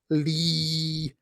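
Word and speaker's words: Leee: Ingrassia and his assistant Lee Black Chalmers, I say it like that because it's Lee with 3 E's.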